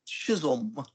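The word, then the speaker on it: Chisum: Chisholm. Oh yes, I know your mispronunciation.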